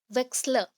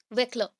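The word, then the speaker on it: Wechsler: तो इसको किसने डिस्कवर किया, देखिए मेंशन क्या है, वेक्सलर, या फिर बोल सकते हैं आप वेक्लर। एस प्रोनाउंस करिए, बेटर रहेगा, बिकॉज आपको लिखने में नहीं तो प्रॉब्लम आएगी।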